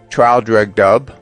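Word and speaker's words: Traldragdubh: in my retinue to trial drug dub or Trill drug drib for it is pronounced both ways as near as I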